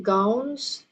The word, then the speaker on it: gowns: To return their graduating gowns. Tapi gowns. Tapi ini tidak ada jeda antara antara A dan U.